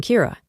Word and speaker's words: Kira: person behind this and calls him Kira, which is the Japanese pronunciation of the word killer.